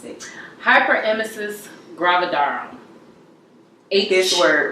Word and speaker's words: hyperemesis gravidarum: What is how do you pronounce it? Hyperemesis gravidarum.